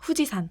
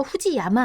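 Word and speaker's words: 富士山: 후지산. 그쵸. 후지산. 근데 한자를 봤을 때 맨 끝에 산자가 들어가 있는데 이거 후지야마 아니에요? 라고 할 수 있겠지만 여기선 또 후지산이라고 읽어요.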